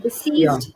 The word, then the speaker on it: deceased: sounding word diseased yeah we have to be very careful with the sir and Z pronunciation here that is to make a world of difference right deceased someone who has passed